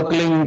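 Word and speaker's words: क्लीं: की मात्रा और बिंदी, उसका उच्चारण होगा क्लिंग गा की ध्वनि निकलेगी पीछे।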